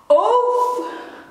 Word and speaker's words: of: In daily conversation I tend to pronounce this as of, of. But if you're really in the zone, you will pronounce, because sometimes I just pronounce it off, off.